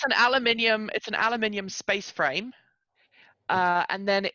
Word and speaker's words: aluminium: I stuck with the British thing, aluminium, extra syllable.